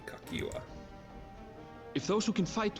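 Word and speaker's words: Cahciua: I'll pretend that middle C is a K. Kakiwa.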